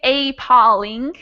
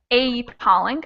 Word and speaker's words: appalling: at the word appalling the letters that are not stressed their sound changes a little bit so like this this first a if we don't stress the first a instead of sounding like a real a it sounds like uh so instead of saying apolling a polling i say a polling so those two a's